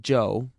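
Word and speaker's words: Chu: is amazingly Cooperative Joe spell it c h u if you want to be exotic it's still pronounced Joe and that's his name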